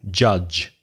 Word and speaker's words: judge: whether just be careful the pronunciation of judge it's the G sound like January June Jeremy July judge judge there's another type